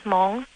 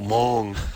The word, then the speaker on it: Hmong: Yeah, because my nationality is Hmong. Yours is Hmong? Hmong. Hmong? It's a rare Asian. You're like a Hmonganite? Hmong. That's my nationality. How do you spell that? It's with a silent H, M-O-N-G.